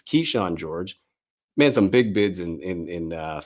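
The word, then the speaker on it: Kyshawn George: Keyshawn George, I always get the name wrong. It's Keyshawn George.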